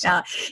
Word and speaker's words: Khaled: I was saying it wrong, but I can fix that up. DJ Khaled.